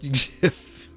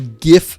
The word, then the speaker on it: GIF: spelled NRE but pronounced GIF I am firmly on the GIF side of things hard G in uh the graphics